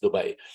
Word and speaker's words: Dubai: wanting to correct me I promise you it's Dubai everybody has this thing of no maafi you're saying it wrong no no trust me